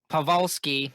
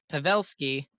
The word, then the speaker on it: Pavelski: say it wrong and i still say it wrong pawlski no pavelski and we could have